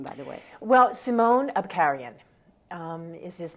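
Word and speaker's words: Simon Abkarian: know about the actor and how do you pronounce his name by the way well simone Abkhazian is his name and she had worked with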